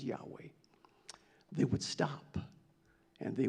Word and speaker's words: Yahweh: When it came to write the word, the name of the Lord, YHWH, that word that we pronounce as Yahweh, they would stop and